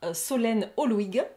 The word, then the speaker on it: Solène Holuigue: Et aujourd'hui, pour cette troisième édition, nous avons le grand plaisir de recevoir Solène Holwig. Est-ce que je le prononce correctement?